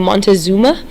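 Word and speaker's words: Montezuma: One of based on one specific political leader um a man named Montazuma um there's also a different pronunciation that's mockuma same man.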